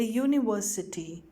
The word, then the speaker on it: university: you follow the sound the following words begin with vowel letters but not with vowel sounds they therefore take a before them a university a one rupee note a european a unit so you need to